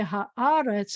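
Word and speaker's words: הארץ: to say the land, I say haaretz, and the accent is also going to be on the first one.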